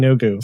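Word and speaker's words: Yeenoghu: I did find a pronunciation guide for Yu Yanogu and you were right. It is Yogu.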